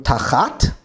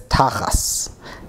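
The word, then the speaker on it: תחת: And the key word for me here is going to be, in modern Hebrew, tachat, but here we actually see it as tachas.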